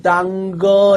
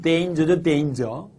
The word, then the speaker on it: danger: 지푸라기라도 당거 이 말입니다. 지푸라기라도 당거. 그죠? 선생님 왜 그렇게 발음을 망치십니까? 이렇게 말하는 경우도 있습니다. 물론 이 단어의 정확한 발음은 danger죠. danger.